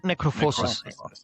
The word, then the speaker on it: Necrophosis: Necrophosis.